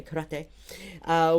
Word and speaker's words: karate: Learning karate, if we want to pronounce it in the Japanese way, karate, with Sensei Porta.